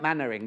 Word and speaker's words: Mainwaring: so that's Margaret now it's spelt Mainwaring but I think you say that Mannering don't you like Captain Mannering happy birthday 61 oh